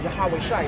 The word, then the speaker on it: Yahawashai: The correct pronunciation, as I went through already, Yah, which means he, and Hawashai, which means his salvation or his deliverer. Yahawashai, that's the most high son's true name.